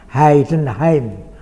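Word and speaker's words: Heidenheim: di apain membacanya begitu Jadi kalau tulisannya ee dibaca Ai seperti bahasa Jerman di sana selama 18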